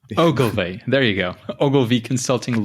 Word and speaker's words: Ogilvy: actually a video on youtube that helps people pronounce ogilvy so it's ogilvy ogilvy there you go ogilvy consulting london looking at